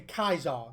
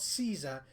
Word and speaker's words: Caesar: go a Kaisar like they say Kaisar not Caesar Kaisar he said Caesar